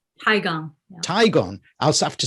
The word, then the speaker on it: Tigon: for your book, which is it Tigon or Tigon? Tigon.